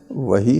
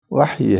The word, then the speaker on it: وحی: یہ وحی کہتے ہیں، یہاں پہ تلفظ غلط ہے، وحی نہیں ہے، وحی ہے، الوحی.